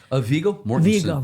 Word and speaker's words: Viggo Mortensen: I can never pronounce his name. Viggo Mortensen.